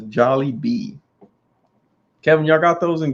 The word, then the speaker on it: Jollibee: that phonetically in there is it jolly bee or jollibee because adam wants to eat there and he's not gonna know how to pronounce it if he's listening to my the way i'm saying it okay loki loki says yes jolly kevin even says jolly bee kevin y'all got those